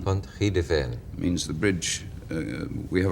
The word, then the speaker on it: Pontrhydyfen: Pontrhydyfen. Pontrhydyfen. Pontrhydyfen.